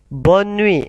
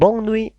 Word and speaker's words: bonne nuit: Nah, awas ketika ada huruf N-nya 2 ya, kemudian setelah huruf N ada huruf E, maka tidak dibaca sengau. Dibaca sengau apabila hanya ada huruf O dan N saja, tidak double. Ya. Jadi kita tirukan dan kita ucapkan bersama-sama. Allez, bonne nuit. T-nya hilang juga. Bonne nuit, bukan bon nuit, tapi bonne nuit.